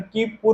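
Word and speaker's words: Kuiper: घेरा है, हम इसे कुइपर बेल्ट भी कह सकते हैं, और इसका उच्चारण कीपुर होता है।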